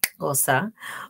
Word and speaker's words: Xhosa: In Xhosa, and I said it right, Xhosa, Ubuntu is the belief and philosophical perspective of our universal bond as human beings.